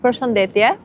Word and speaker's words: përshëndetje: Hello in formal Albanian is përshëndetje, or for normal people it's ç'kemi, which is what's up.